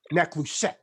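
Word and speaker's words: נחושת: Now, the word brass in the following scriptures derives from the Hebrew word that is pronounced neklushet.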